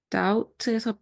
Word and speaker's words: doubt: doubt에서 b는 발음이 되지 않고 dout처럼 발음이 되는데 doubt는 의심하다 라는 뜻입니다.